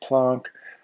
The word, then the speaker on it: Planck: this uh german physicist named planck spelled planck pronounced plonk um he was a